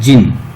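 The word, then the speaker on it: Djinn: व्यक्तित्व चतुर जिन था यहां पर दी के लिखा हुआ है लेकिन यहां इसको सही उच्चारण है जिन जिन जो चिराग के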